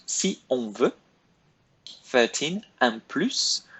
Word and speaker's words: plus: Un plus. One of the rare S's we pronounce at the end of French words.